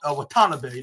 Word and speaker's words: Watanabe: what's her name uh wat watana bay watan bay that's what that's how it's pronounced like but anyways this